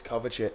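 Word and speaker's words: Kovačić: I knew Rico Lew been sent off but it's Kovacic. Yeah. So Oh, I didn't think. Yeah, it's a hard C this one.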